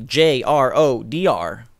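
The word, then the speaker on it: JRODR: The name is pronounced as if every letter was separate.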